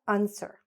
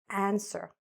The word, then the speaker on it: answer: But what's important is that this short A, again, see how I'm opening my mouth? Answer. It's not answer. It's answer.